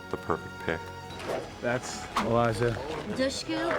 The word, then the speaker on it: Dushku: things Elijah was the perfect pick that's Elijah dushu pronounced like push D Eliza I love what she